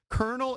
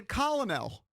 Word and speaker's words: colonel: some sweatpants sure I'll spend a few shekels colonel is exactly why the English language makes no sense yes correct because it is pronounced Colonel but if you are from another